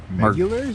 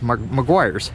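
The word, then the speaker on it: Meguiar's: I'm not familiar with, is that Megulars? No, it's Maguire's. Maguire's? Remember that annoying, the annoying guy. Yeah, they sponsored. Yeah, it's spelt weird for Maguire.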